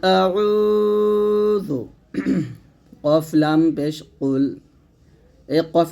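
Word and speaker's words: قُلْ: শিখবো আউজুবিল্লাহি মিনাশ শাইতানির রাজিম বিসমিল্লাহির রাহমানির রাহিম কুল আউজু কফ লাম পেশ কুল এই কফ উচ্চারণটা এমন ভাবে করবেন যেন কাফ না হয়ে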